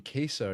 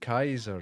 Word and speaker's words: Kaiser: I've been saying Keser and it should be Kaiser, right?